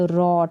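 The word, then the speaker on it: wrote: तो ये क्या है, राइट के बाद रॉट, इसको पढ़ेंगे रॉट। यहाँ पर भी डब्लू साइलेंट है, तो राइट का मतलब लिखना और रॉट का मतलब लिखा।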